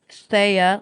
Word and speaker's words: Thea: It is pronounced Thea, like Leia, but with a TH.